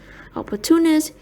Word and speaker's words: opportunist: Opportunist is stressed on the third syllable. Opportunist, the same as opportunity, while opportunistic is stressed on the fourth syllable. Opportunistic.